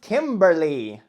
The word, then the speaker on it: Kimberleig: It's gonna be Kimberleig Hagay. Pronounced Kimberly.